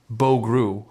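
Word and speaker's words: Bo Groulx: The coach also spoke about the performance of forward Bo Gruel pronounced Bo Gruel who entered the lineup after being called up earlier in the day.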